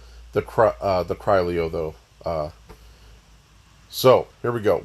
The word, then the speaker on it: Criollo: And in this video, we're talking about the collector horse, the Criollo, the Criollo, Criollo. I heard it online pronounced all of those ways. I'm going to call it the Criollo though.